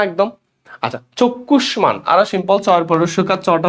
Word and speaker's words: চক্ষুষ্মান: মূর্ধন্য স কিছু সব গ, মূর্ধন্য ন, মূর্ধন্য স এগুলোর সাথে ম যুক্ত হলে ম উচ্চারণ হয়, তাহলে ময়কার মা, সরি দুইটা উচ্চারণ হবে চক্ষুষ্মান।